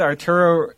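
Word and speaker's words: Ruas: Well, his name is spelled R-U-A-S. His last name is R-U-A-S. Yeah, but it sounded like they were just hoo-ah. Well, I could. Well, I think because like they're probably like I don't know if the R is supposed to be like pronounced like an H sort of deal.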